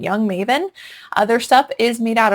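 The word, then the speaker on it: Jung Maven: It's called Young Maven and that is spelled J.U.N.G. Maven. Young Maven.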